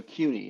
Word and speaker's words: Kueny: Oh my, it's French, so CUNY. It's you kind of pronounce it with a Q, really to the K, but it's CUNY.